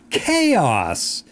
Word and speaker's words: chaos: about, pyramid, and also chaos. Maybe you have that word in your language. In English, we say K, like okay, and then os, chaos.